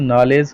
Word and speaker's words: knowledge: एन for national नॉलेज यानी के फॉर नॉलेज, के साइलेंट है ना, के साइलेंट रहता है, KNOWLEDGE, इसलिए उसमें से एन पढ़ते हैं, के नहीं पढ़ते हैं, ठीक है।